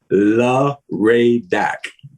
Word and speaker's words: LARADAC: It's phonetically, so it's LARADAC.